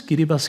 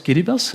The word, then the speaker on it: Kiribati: The Marshall Islands, Kiribati, that's how you pronounce this, Kiribati Kiribati.